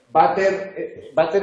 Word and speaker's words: váter: La compañera lo pronunciaba con B, váter.